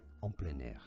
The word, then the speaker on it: en plein air: En plein air is how it's said. On plan.